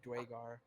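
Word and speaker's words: Duergar: Wergar. I was wondering the same thing earlier. I've heard it pronounced either like that or Dwagar.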